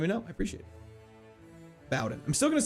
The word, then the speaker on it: Bowden: I was brought up, the name pronounced as bow, as in take a bow, and not bow, as in bow and arrow. Oh, Bowden.